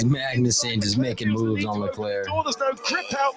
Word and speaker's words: Leclerc: Charles Leclerc is how they say it.